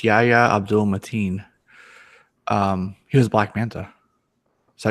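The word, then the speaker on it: Yahya Abdul-Mateen: It's Yahya Abdul Mateen.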